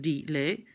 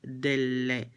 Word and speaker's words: della: la ragazza but again we don't say or even write delay so d and let merge and become della ill libro de la ragazza that is the pronunciation of the double consonant del let not delay just single would be single helper that word doesn't actually exist del a with a double L then we moved